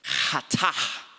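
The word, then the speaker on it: חטא: It's spelled K-H-A-T-A, pronounced hatah.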